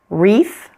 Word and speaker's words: wreath: Sometimes you'll find words that begin with WR. In this case, pretend it is just an R. That W is silent.